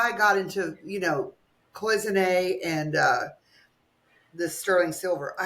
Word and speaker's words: cloisonné: So cloisonné is the way you pronounce it, correct?